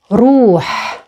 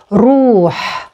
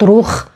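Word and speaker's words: روح: Another option is the word ruh, ruh, with the guttural h at the end, ruh, not ruh, not ruh, it's ruh, and it means soul or spirit, ruh.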